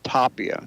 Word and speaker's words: Tapia: Tapia. Tapia, like top hat, Tapia.